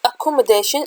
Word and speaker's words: accommodation: e e we have c double c is said as k um we have double